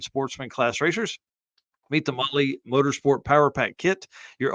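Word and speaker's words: Mahle: for the podcast listeners Molly is spelled m ah l e Mal is probably how it's pronounced in other parts of the world but not here so the cop Spotlight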